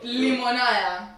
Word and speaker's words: limonada: Look how she pronounces it though. Limonada. I'm fucking dead. I thought she was fucking around, but she was dead ass, yo. That's really how you pronounce it.